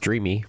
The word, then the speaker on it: Dreame: So I didn't know if that e was silent or not and they said, "No, it's pronounced Dreamy like as if it was a y."